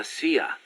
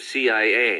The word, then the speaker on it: CIA: here they say la sia instead of c.i.a huh um nothing strange about it that's how it's pronounced when you read it in spanish it has the feminine